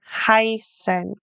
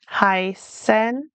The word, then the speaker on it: heißen: So this is an important beginner pronunciation pattern that well Sorry, the EI usually sounds like I. And the IE usually sounds like E. So, for example, mine or heißen. We're hearing the I sound.